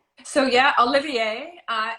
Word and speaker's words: Oliviere: beautiful brand and am I saying it right Olivier so yeah Olivier uh it's actually my sister's married name so